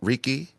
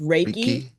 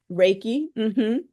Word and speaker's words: Reiki: but does someone ask for is it called Ricki it's pronounced raiki Reiki do you recommend it or they have to